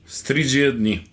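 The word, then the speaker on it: Stridžie dni: since we can't understand Slovakian, or we can't pronounce it either. How do you say Stridzie dni? Stridzie dni.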